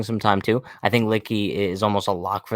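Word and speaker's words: Luetge: you have in mind, I don't know how to pronounce his name, but Lutug. Oh, Litke. Lucas Litke.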